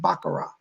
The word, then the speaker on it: Baccarat: r8t but it's pronounced baccarat you don't say the T it's I bugger off